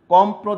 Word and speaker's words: কম্প্র: তুমি দেখো, অন্ধ্র, এখানে দ্বিতীয় উচ্চারণ করার কোনো সুযোগ নাই। তারপরে রন্ধ্র, রন্ধ্র, তারপরে কম্প্র, দেখো কম্প্র।